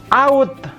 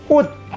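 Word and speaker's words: août: itu enggak bunyi tapi ini bukan out tapi utd dianya nggak bunyi malah teh di ujung itu bunyi berlebih RT di ujung itu enggak bunyi dan kombinasi Oh ini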